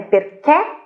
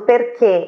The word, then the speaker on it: perché: No caso do perché e outras poucas palavras que têm o accento acuto, a pronúncia é chiusa.